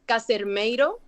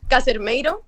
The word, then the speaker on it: Casermeiro: My surname is pronounced as Casermeiro. Casermeiro? It's good. That sounded okay. But that's a good attempt, but it's not perfectly pronounced.